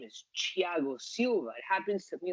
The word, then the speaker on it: Thiago: like you translate it into Spanish and it's Thiago Silva, but his name is Thiago Silva.